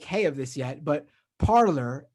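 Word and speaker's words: Parler: of this yet but parlor AKA parlay is French for to talk pronounced parlay uh it's ironic that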